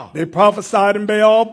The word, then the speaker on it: Baal: They prophesied in Baal or pronounced ball.